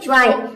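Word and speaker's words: joy: Rule number 3 है, यदि ओ वाई एक साथ आ जाए तो ओ वाई को हम, यहाँ पे वाई रहेगा, ओ वाई को हम वाई प्रोनाउंस करेंगे। जैसे कि देखिए यहाँ पे है ज्वाय, तो जे का हो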